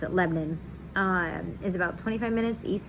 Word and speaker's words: Lebanon: family's from it's it's written lebanon but we pronounce it lebanon is about 25 minutes east of nashville super